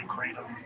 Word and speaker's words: kratom: Because people say Kratom. Yeah. You're the only one I've heard say kratom. It's a Thai word. People in Thailand call it kratom.